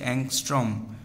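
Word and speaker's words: ångström: এই এংস্ট্রম কি? এটার উচ্চারণ হচ্ছে অংস্ট্রম।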